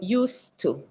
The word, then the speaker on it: used to: In used to uh we don't pronounce it like use Z. Uh we pronounce it like use used to and the D is dropped. So used to Yes.